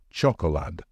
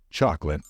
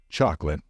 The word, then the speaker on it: chocolate: to say this one it might be tempting to say Chad since there are three syllables however you should pronounce it as if there is no letter o in the middle so the right way to say it is chocolate one more time chocolate